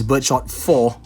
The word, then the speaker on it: Birdshot 4: 4, yeah, I know I've been saying the channel name wrong. It's Birdshot 4, not IV. I mean IV, Roman numerals for 4.